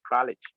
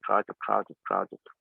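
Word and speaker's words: Kraljic: Yeah, so it was developed by Kraujic, and they call it Kralich. That's the correct pronunciation, but we usually call it Kraujic.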